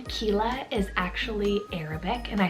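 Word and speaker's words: Qila: This is probably one of my top names on the list, and that is the name Kila, spelled Q-I-L-A.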